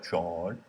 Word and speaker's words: John: begs the question well john that's how they say my name in maine by the way j-a-w-n main accent uh wouldn't it be